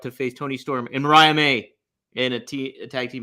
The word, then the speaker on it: Mariah May: and Maria May versus Maria May beg thank you Mariah May that's why I'm here